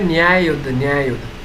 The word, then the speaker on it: न्याय युद्ध: तो बच्चों इसकी जो प्रोनाउंसिएशन है वो है न्याय युद्ध, स्ट्रगल फॉर जस्टिस।